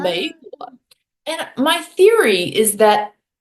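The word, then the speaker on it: 美国: 嗯美国. A lot of speakers, myself included, will have this tendency to say 美国, 啊，美国.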